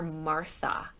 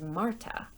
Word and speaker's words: Marta: If you've been reading along on the text or listening super carefully, you might have noticed that they call her Martha, but her name is Marta.